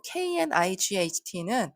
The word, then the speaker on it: knight: 그리고 KNIGHT는 앞에 K가 붙었는지 이렇게 K와 N이 연달아 나올 때 K가 묵음이 됩니다. 묵음이라는 건 소리가 나지 않는다는 뜻이에요. 그래서 앞에 있던 밤을 뜻하는 night와 발음이 같습니다.